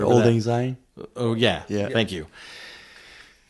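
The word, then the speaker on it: Auld Lang Syne: And I can never pronounce the name of the song, but Odd Lane Sing? The Old Lang Syne?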